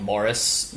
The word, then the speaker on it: Maurice: his name is horus his name is maurice but they pronounce like morris um gross which is